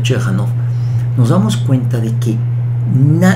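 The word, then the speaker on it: Ciechanów: El pueblo, y no importa el nombre, lo voy a mencionar, Chechanov, se escribe muy curioso, se pronuncia Chechanov.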